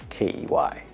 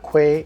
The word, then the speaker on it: Quay: was clark key and it's spelled q-u-a-y but it's pronounced k-e-y so for those of you who want to say cloud quay it's not quay it's